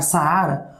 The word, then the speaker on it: Saara: Se eu fosse falar Saara, as minhas duas vogais têm som forte. Portanto, elas não podem coexistir silabicamente na mesma sílaba. Por elas serem duas vogais, elas têm que ficar separadas, ok? Separadas. Eu pronuncio tão forte a primeira vogal quanto a segunda.